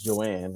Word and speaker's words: Johanne: So my wife's name is Joanne, right? And it's spelled Johanne. The H is silent.